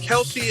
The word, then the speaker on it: Kelce: work who called him Kelsey. The correct pronunciation is Kels, like he just said.